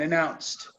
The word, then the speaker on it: announced: announced I'm gonna announce this D turns into a t South but announced Chris Harrison is a